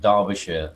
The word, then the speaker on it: Derbyshire: I had to explain this evening to somebody about Derbyshire is D-A and not D-E.